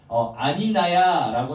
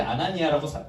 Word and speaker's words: 아나니아: 아까 주영이가 아니나야라고 처음에 했고 그다음 두 번째는 아니니야라고 했고 세 번째 아나니아라고 정상적으로 발음을 했습니다.